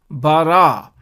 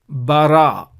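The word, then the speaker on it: בָּרָא: So Ba is the sound. And Resh is the next letter, similar to what we have seen here already. Resh is the next letter, and again a Qamats, and so you pronounce Ra. And Aleph has no sound. So therefore the total word, we pronounce it as Bara.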